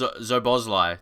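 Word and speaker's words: Szoboszlai: It's pronounced Zobozlai. Did I say something similar to that? I was trying to remember. Zobozlai.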